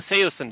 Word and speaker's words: Saosin: But I say it's Saosin, but originally it was Saosin. That kind of, and then it kind of took on a life of its own, and then people started saying it wrong, and everybody started saying it wrong. So yeah, it is Saosin, though. That is the correct way to say it.